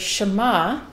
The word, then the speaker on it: Shema: So it's the very first sound of the first word, Shema, and it's the sh sound.